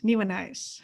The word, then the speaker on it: Nieuwenhuis: Nieuwenhuis.